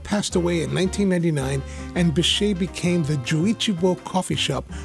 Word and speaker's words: Bechet: Pronounced Beshay after the early 20th century jazz saxophonist Sidney Bechet, this Kissaten opened in 1978 in a shop just around the corner from today's location.